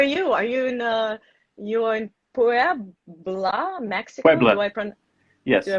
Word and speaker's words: Puebla: Puebla. Yes. Do I pronounce it correctly?